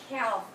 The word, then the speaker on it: calf: sense so this is the l is silent but i'm making a